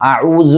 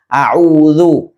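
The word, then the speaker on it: أعوذ: അഊസു ബില്ലാഹി ഇങ്ങനെ ഓതുന്നത് കേൾക്കാം. എന്നാൽ ഇതാണ് യഥാർത്ഥ മഖ്റജ്. അഊദു.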